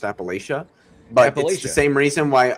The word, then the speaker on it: Appalachia: Just like it's funny because I'll say Appalachia even though that's actually a French word and it is technically pronounced Appalachia but the same reason